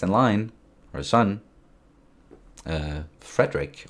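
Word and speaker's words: Frederik: line her son uh Frederick or frerick as we would say his name in Denmark and he is going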